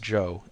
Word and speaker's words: Chow: is amazingly Cooperative Joe spell it Chow if you want to be exotic it's still pronounced Joe and that's his name